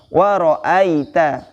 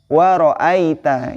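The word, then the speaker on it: وَرَأَيْتَ: Cara membacanya ai atau au, ya, seperti itu. Jadi cara membacanya di sini waro'aita, waro'aita, ya.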